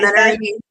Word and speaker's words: Menarini: Yeah, Menarini.